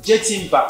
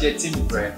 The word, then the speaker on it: Jetimba: Jetimba. Yes, just like Jenna. General. Oh. Okay. Okay, I've been pronouncing you as Jetimbre. Yeah. But it's fine, Jetimba.